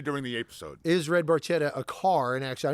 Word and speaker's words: Barchetta: So it specifically says the pronunciation is Barchetta with a K sound rather than the TJ sound sung by Geddy Lee.